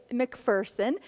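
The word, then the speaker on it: Macpherson: Well, I'm going to start with, you know, Americans have been mispronouncing your name, and folks might have just heard me say McPherson. That is the correct pronunciation. Well, it's a little bit like you say tomatoes and we say tomatoes. You say McPherson, I say McPherson.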